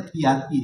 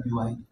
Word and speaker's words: BYD: BYD itu bacanya piati ya, bukan BYD.